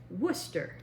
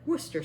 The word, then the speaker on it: Worcester: And they all pronounce it Worcester.